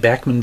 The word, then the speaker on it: Bachman: And yes, I'm pronouncing it Bachman because, according to Randy Bachman, that is actually the way that the family's name is pronounced, supposed to be pronounced. Apparently everybody calls him Bachman, and he's just not bothering to correct them anymore. But it is technically Bachman.